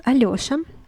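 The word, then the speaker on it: Алёша: as ye so in this case it is pronounced as allosa alioshan aliosha is also a very popular name in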